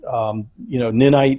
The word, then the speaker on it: Ninite: I mean, his first question was, why did we go with Ninite over Chocolatey?